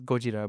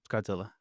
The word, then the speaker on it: Gojira: Yeah, or in Japanese it's Gojira, but Gojira. Yeah. And then English it's Godzilla.